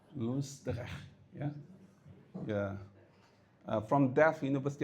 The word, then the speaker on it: Loosdrecht: It took me 3 hours to pronounce his name correctly. Loosdrecht, yeah?